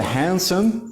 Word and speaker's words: handsome: will be consistent so we say the handsome the d here is silent the handsome man lost